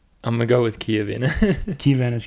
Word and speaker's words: Chiavenna: But it's Chiavenna.